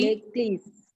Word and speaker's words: église: L'église. Yes, very good. L'église. L'église. L'église. Because there is one S, so you will be pronouncing it as Z. Z. So it will be l'église.